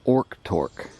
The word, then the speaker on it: Orktork: as Bevel's Hill, it's known as Orktork, which apparently is a more accurate it goes back more to the original Indian way of pronouncing it.